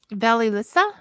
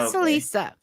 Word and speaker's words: Vasilisa: the book, and I'm going to say her name wrong, I'm sure. Baba Yaga and Felissa? Oh, sorry. How do you say it? Valilissa? Oh, Baba Yaga Vasilisa? and see, I'm completely off. Okay. Vasilisa.